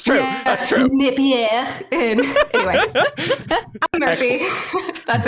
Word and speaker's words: Napier: So many people say Napier when they when they guess on the pronunciation. But that was correct. Great job. Great.